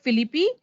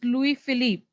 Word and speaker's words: Louis Philippe: cucumber right louis philippe it's not philippi it's louis philippe tuber colossus right tuber